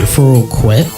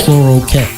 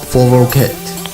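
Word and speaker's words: Foroqet: And for some reason, a lot of people pronounce it Foroquet. But it's easier to imagine if it was F-O-R-O-K-E-T. So it's like Foroquet. Okay, so how do you say it? It's Foroquet. Foroquet. Ket. Not quet.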